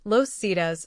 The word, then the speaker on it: Los Zetas: Los Zetas, pronounced Los Cedas, Spanish for the ZS,